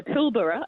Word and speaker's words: Pilbara: um in this fabulous rock formation in the pilbara as we pronounce it yes and um it but all